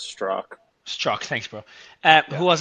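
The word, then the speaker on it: Strzok: at Twitter Mario for what it's worth it's pronounced straw struck thanks bro uh who was our general counsel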